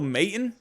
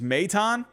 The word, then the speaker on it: Maton: you know i've always i've been calling him phil maton i guess it's meitan so i mean me